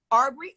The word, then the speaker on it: Arbery: you can't pronounce Ahmaud Arbery? First of all, the word Arbery is actually it may not be spelled the same, but it is pronounced the name. It's a study of trees.